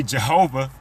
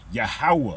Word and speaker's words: Yahweh: But you can see it doesn't say Jehovah. It says Yahweh, because there is no letter J in the Hebrew alphabet. There is no V in the Hebrew alphabet. That V should be a W.